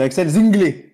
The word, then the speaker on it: Zinglé: C'est pas Axel Zingle, c'est Axel Zinglé.